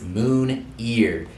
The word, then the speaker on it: Moon3ar: first thing my Instagram it is Moon ear it's like my middle name however it is spelled m o o n 3 a r for my YouTube it's